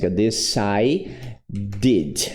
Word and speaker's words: decided: Então, vai ser assim, ó. The vou botar um decide did. Decide did. Então, aqui pronunciou, aqui pronunciou, tá?